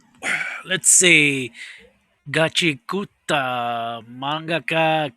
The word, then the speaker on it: mangaka: Mangaka, that's how it's pronounced.